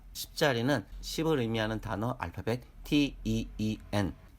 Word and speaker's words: teen: 10자리는 10을 의미하는 단어 알파벳 TEEN, 읽기는 teen 또는 teen이라고 니은 발음이 들리도록 읽어야 합니다.